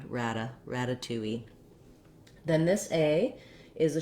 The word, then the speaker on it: ratatouille: t in both syllables that's because this has stress on all three of the syllables so we have the afowl rather than rada we don't flap the d and we don't change this letter a to a schwa so if you want